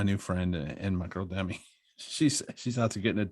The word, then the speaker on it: Demi: Is it Demi or Demi? It's Demi.